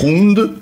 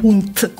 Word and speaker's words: Hund: Hund è il cane. Hund. Hund. È la D questa. Sì, ma si legge T.